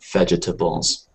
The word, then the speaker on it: vegetables: well let me see it looks like four syllables right vegetables um but I don't I don't know anyone uh either in American English or British English who really gives it the full vegetables um yeah it's it's it's uh it probably should be but no no one the natural pronunciation for vegetables is to think of veg no we're in a hurry let's just go with veg yeah vegetables vegetables vegetables